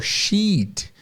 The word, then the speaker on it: sheet: uma folha de papel sheet A Paper é uma folha de papel e aí vocês vão reparar que esse x parece muito com o chip né é a mesma pronúncia Só muda a consoante final ovelha sheet folha